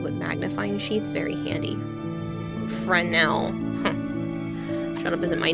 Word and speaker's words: Fresnel: Fresnel lenses. The S is silent. You are a genius design that gives the effect of really thick lenses, but much lighter weight. Fresnel? No, it's definitely Fresnel lenses.